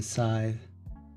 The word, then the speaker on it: Scythe: The C is silent. Just like in Scythe.